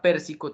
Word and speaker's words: Pérsico: bien en este caso la palabra Pérsico tiene acento ortográfico en la antepenúltima sílaba llegando así aquel otro